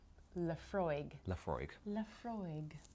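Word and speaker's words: Laphroaig: Lafargue. Like a sort of very fancy French frog.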